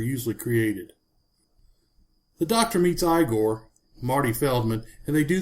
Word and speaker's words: Igor: F pronounce his name Frankenstein, he then insists that his name is pronounced Igor. You must be Igor.